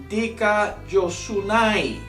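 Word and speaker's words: δικαιοσύνη: La pronunciación en griego de la palabra justicia es dikaiosunai. So the pronouncement of the Greek word of justice is dikaiosunai.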